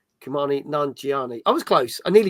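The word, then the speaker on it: Kumail Nanjiani: That's how you pronounce his name. Kumani Nanjiani.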